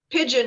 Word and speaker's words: Pigeon: name of your town pigeon just like the bird oh pigeon pigeon gotcha